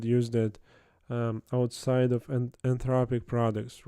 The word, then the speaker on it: Anthropic: or cloud which yeah I don't know and anopic IC anthropic. Anthropic. Yeah. Need to pronounce it correctly.